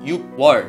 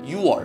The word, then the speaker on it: 육월: you might prefer so you might pronounce this as you were but it really isn't to make it some more fluid Koreans don't really pronounce the kkeok in the first letter so it sounds like you are this is our